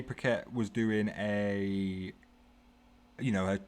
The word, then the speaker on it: Paquette: saw i was watching her rene uh pacquiao camera mispronounced the name but uh rene paquette was doing a you